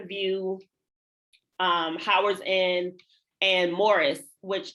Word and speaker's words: Maurice: View, Howard's End, and Morris, which if you are looking up the movie Morris, you're going to have to spell it like Maurice because it's spelled Maurice.